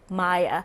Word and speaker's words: Mia: was singer and songwriter it's pronounced Maya and she will be